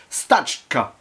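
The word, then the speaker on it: Стачка: en 1925 la grève ou en version originale stachka je remercie ma collègue de russe au lycée pour l'aide sur la prononciation puisqu'il s'agit d'une œuvre soviétique réalisé par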